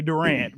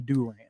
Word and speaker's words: Durant: that the other day that's how the locals pronounce it I say Durant but if you're the locals it's definitely Durant from now on whatever